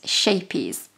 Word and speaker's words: Scheepjes: But I have been reliably informed that it is acceptable for us to just pronounce it Scheepjes. Now, if you had the lovely Dutch accent, you would be able to pronounce it properly, but I'm not even going to attempt it, so I am just literally going to call it Scheepjes.